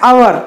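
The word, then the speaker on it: hour: अब देखिए यहाँ पर आवर की स्पेलिंग में क्या है, एच, यहाँ पर ये व्यंजन है, लेकिन जब हम इसका उच्चारण कर रहे हैं तो हम इसे पढ़ रहे हैं अवर, तो यहाँ पर आ रहा है जो कि वॉवेल का उच्चारण है, इसलिए हम यहाँ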